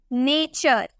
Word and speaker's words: nature: ठीक है, उसी तरह से अगर हमें बोलना हो NATURE, यहाँ पे आपको टी के बाद URE नजर आ रहा है ना, तो इसे हम चौ में प्रोनाउंस करेंगे, हम बोलेंगे नेचर।